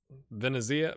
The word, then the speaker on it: Venezia: So let's take a look at Fausto Esserelli, who we sold to Venezia. That's right. Venezia.